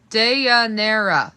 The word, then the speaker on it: Dianera: Dianera. 4 syllables.